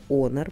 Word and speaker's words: Honor: Да, еще раз повторяю, Honor, правильно говорить, а не Honor.